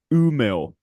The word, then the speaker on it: Umeå: The town is called Umeå. It's rather difficult to pronounce.